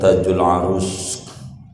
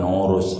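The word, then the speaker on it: Taj al-'Arus: Imam Ibnu Athaillah mau menutup pembahasan Tajul Arus, bukan urus, arus, dengan munajat.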